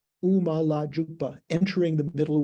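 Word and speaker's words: དབུ་མ: This is showing all of the letters that are, so there's a D prefix that's not pronounced, you don't pronounce it debu, it's just pronounced U, Uma La Jupa, entering the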